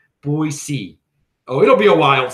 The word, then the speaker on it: Boise: I got to pronounce it correctly. Boise.